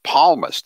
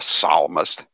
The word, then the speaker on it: psalmist: It's palmist. You know that. It's not a psalmist.